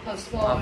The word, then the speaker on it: postpone: Cái từ này trọng âm rơi vào tiếng thứ mấy? Postpone hay postpone? Postpone.